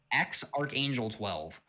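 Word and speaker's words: X Æ A-12: that arc a12 um the ae you know how it's like an ae mix yeah yeah it's a greek symbol i believe right they said that part is pronounced archangel okay so it's like x archangel 12.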